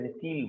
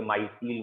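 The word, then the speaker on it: micelle: जहां पहली बार कोलॉइड बना, उसके लिए एक स्पेशल वर्ड है, मिसील वर्ड, कई लोग इसे माइसील वर्ड कहते हैं, वॉट एवर, MIECEELE, समवॉट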